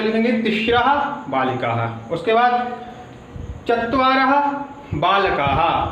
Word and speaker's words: तिस्रः: ठीक है, यहाँ पर लेकिन आप थोड़ा अंतर देखेंगे। एका 1, द्वे 2, तिस्रः। यहाँ पर क्या है? त्रयः, लेकिन यहाँ पर थोड़ा प्रोनाउंसिएशन अलग है, यहाँ पर लिखा है तिस्रः।